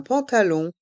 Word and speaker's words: pantalon: Un pantalon, un jean. Un pantalon, un jean. Dans le mot pantalon, il y a le son en et le son on.